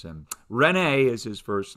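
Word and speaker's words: René: how we pronounce him renee is his first name and uh typically you would have an accent on both those e's in his first name so they would be long vowels rene yeah but descartes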